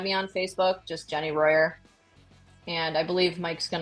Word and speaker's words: Rojer: my Instagram is Jenny Royer forreal estate last name is spelled r o j r pronounced with a Y um you can also add me on Facebook just Jenny Royer and I believe Mike's